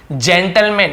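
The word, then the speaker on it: gentleman: जी ई का ज, जी आई का ज और जी वाई का भी ज होता है। जैसे एग्जांपल देखिए जेंटलमैन, इसे हम जेंटलमैन नहीं बोल रहे हैं, जी का ज हो गया क्योंकि जी ई एक साथ है, तो हम इसे जेंटलमैन।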